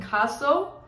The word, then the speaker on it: Nkaso: Also, real quick, let me just add in, I went to this African restaurant the other day downtown in Nkaso. The N is silent, Nkaso.